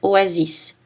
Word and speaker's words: oasis: Mais il y a des exceptions. Les mots d'origine étrangère, bus, express, tennis, oasis.